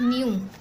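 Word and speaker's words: knew: The caliph न्यू, यानी खलीफा जानते थे, न्यू हम कब यूज़ करते हैं कि जानते थे, के साइलेंट होता है इसमें, ठीक है।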